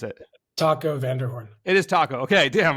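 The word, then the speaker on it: Taco van der Hoorn: So you are coached by your friend, and tell me his name because I'll probably mispronounce it. Taco Vanderhorn.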